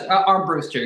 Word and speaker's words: Armbruster: Am I pronouncing that right? First of all, that's Armbster. Yeah. Yeah. Arm Brewster.